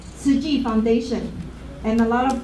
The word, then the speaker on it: Tzu Chi: So our agency name called SKUSD Foundation, and a lot of time people pronounce Sushi Foundation. And T-Z-U-C-H-I, SKUSD, serving with compassion. And then because T is very tough to pronounce it, so a lot of